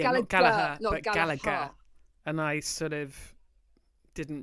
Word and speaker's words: Gallagher: she completely reprimanded me for mispronouncing Liam gallager surname I said galaha and she said I can't let you say that that's so wrong so Mrs chopr I know it's Gaga and um there you